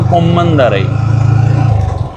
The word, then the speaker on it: கொம்மந்தரை: சரி இதில் இடப்பக்கம் பாருங்க, பள்ளிக்கூடத்தினுடைய முன்பகுதி கம்பர்மலை வித்தியாலயம் கொம்மந்தரை ஊரின் பேர் கொம்மந்தரை. இப்படியான இடங்களை வந்து தான் அந்த பெயர்களை உறுதிப்படுத்தலாம். ஊரின் சரியான உச்சரிப்பு கொம்மந்தரை.